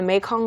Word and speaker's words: Mekong: 그리고 메콩강이라고 하는 것도 이렇게 발음을 했군요. 메이콩처럼. Mekong. 메이콩 River. Sounds like 메주콩.